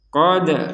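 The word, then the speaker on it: قَدْ: Maka kita harus memantulkan huruf dal ini. Qad naro, qad naro, qad. Nah, seperti itu. Kalau hanya sekedar dibaca qad naro, qad naro, qad, nah, tidak ada pantulan sama sekali.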